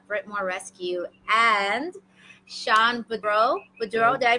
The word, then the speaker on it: Beadreaux: Bourdeaux, did I pronounce that correctly?